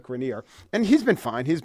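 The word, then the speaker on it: Grenier: doing in his career I guess I owe it to myself to say it like grineer and he's been fine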